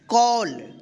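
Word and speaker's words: call: A double L फॉल सी A double L कॉल एस एम A double L स्मल एच ए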